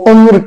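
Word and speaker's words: عمر: तो dear student आप देखिए दूसरा लफ्ज़ है, इसको उम्र कहते हैं, उम्र। तो ऐन के ऊपर आप देखिए, ऐन के ऊपर पेश है और मीम और रे जो है ये साइलेंट है, साकिन है, इस पे न ज़ेर है, न ज़बर है, न पेश है।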